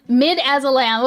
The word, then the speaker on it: midazolam: Midazolam. Okay, midazolam. Wait, is it midazolam? Okay, it's kind of mid.